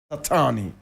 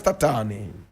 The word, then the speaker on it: Tatane: This is the photograph of Andries Tatane. Andries Tatane. Andries is spelled A-N-D-R-I-E-S.